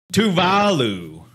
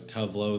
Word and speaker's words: Tuvalu: Tuvalu. Tuvalu. So Tuvalu, Tuvalu, Tuvalu, or Tuvalu. Which one do you think is the correct of this place? The correct pronunciation? Dude, I thought it was Tuvalu, the pop star.